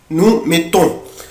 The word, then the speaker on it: mettons: met on met nous mettons عود نفسك لو في اتنين كونسون دوبل كونسون بقف عليه mettons vous mettez ils mettent